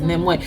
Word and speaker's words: Nimue: It's okay, my name is hard to pronounce. It is Nimway. I thought it might have been Nimway.